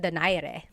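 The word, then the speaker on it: Donaire: So, our first poll here is going to be Mani Pacquiao versus Nonito Daire or is in in the Tagalog uh pronunciation. Nonito Dare.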